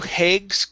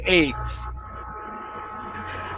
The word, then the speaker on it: eggs: knew eggs okay so remove the h you're saying an h you're saying hey eggs okay instead of eggs it's a eggs thanks i never knew eggs okay almost one more time take off that h i never knew eggs